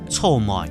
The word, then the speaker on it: 草莓: 臭梅。